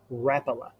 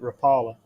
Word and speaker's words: Rapala: though that's good floating original rapalje actually rappeller yeah we've been saying it wrong for 50 years everybody i know calls it rapala yeah that's what i've always called it it's a swedish maker rapala what new frogs